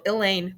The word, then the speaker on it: Elaine: very long to know elaine rhymes with pain the field trip breaks